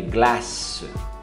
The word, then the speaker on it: glace: E sorvete é glace. Glace. Pronuncia até o E.